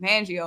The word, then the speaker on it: Fangio: Hey, how you say it? Van? It's Fangio.